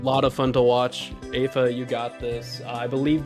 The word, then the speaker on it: Aifa: Aifa. Aifa.